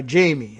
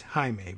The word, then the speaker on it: Jaime: who just goes by jamie instead anyway it's uh it's she and that's actually quite a common spelling of jamie even though in in in spanish it's jaime but noah jamie okay